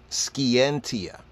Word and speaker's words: scientia: old Latin and in the old Latin is pronounced as scientia right scientia right oily an old old Latin old Latin skientia in the old Latin in Oxford later day